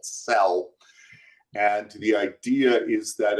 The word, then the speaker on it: CEL: All right, so cell is spelled C-E-L.